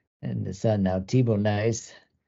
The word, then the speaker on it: Nys: And I have to be careful too with Sven Nys and his son now, Thibaut Nys. Not saying niece, because I want to say niece, but that's nice, I believe.